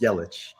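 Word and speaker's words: Yelich: yellen's mvp miami takes one game did you pronounce it yellow and then yellow and then yellow again it's yellow christian yellow is very handsome yeah right this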